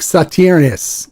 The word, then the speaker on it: Sauternes: Now, Sauterne is spelled Sauternes. So it looks like Sauternes, but it's Sauterne. It's pronounced Sauterne. It's French.